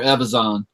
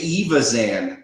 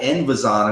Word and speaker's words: Evazan: Evazan. Evazan? Yeah. I say Evazan. That's what I call him now, because I used to call it Envazan, and I'm like, where's the N? Where's the letter N?